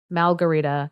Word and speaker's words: Malgherita: So our heroine, I am going to call her Malgarita, because her name is spelled Malgherita, which makes me like, I want to say margarita, but there's no R at the beginning.